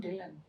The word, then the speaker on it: Dhillon: Because as you write, you read, na? So you pronounce it like that. And Poonam Dhillon.